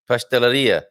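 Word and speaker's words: pastelaria: Pasteleria. Pasteleria, so you stress at the end, right? And then a bakery. Padaria. Padaria, you stress at the end. So all these words, padaria, pasteleria, cafeteria, merceria, livraria, and I could go on and on.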